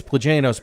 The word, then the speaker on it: Plagianos: It's Plagianos, but it's spelled P-L, the word again, O-S.